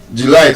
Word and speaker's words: July: Now, that word is not actually July. It's not stressed on the first syllable. I like that. The stress is on the second syllable.